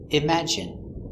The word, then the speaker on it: imagine: e sound nicotine and sometimes it sounds like it imagine in imagine there's no way